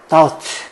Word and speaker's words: doubt: 저는 이 단어 보면 옛날 영화, 로빈 윌리엄스 나온 영화 미세스 다우파이어가 생각나는 것 같은데 doubt, B가 무거움이라 발음 안 돼요.